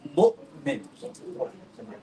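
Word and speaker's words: مؤمن: With a sukoon, it's almost like a hiccup, right? We say mu'min. Yeah, we say mu'min, right? Like it's a like a hiccup. It stops.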